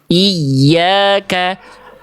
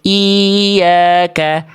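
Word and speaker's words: إِيَّاكَ: Ya bertasdid itu biar bunyi tasdidnya terasa. Ya, sehingga dibacanya ya tasdid ini akan terdengar lebih meninggi dibanding sekitarnya. Iyyaka. Yang sebelumnya Bunda Ermita itu ya-nya lempeng, kayak nggak dibaca tasdid, kayak nggak ada tasdidnya. Iyyaka, iya harusnya iyyaka.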